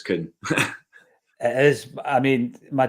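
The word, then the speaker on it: Kühn: You were trying to convince me that what's his face, Kuhn was Kun, and it's definitely Nicholas Kuhn.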